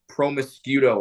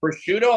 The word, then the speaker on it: prosciutto: get the one with promiscuto on it." That's how I thought you pronounced that word for like 32 years of my life.